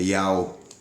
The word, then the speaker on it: Yah: E o H é mudo, é Ial.